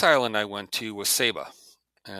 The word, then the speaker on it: Saba: so the next Island I went to was saba and it's although it's spelled sa it's pronounced Saba okay uh it's